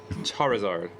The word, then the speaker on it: Charizard: card oh my gosh how you say it char e zard charizard it's like these tick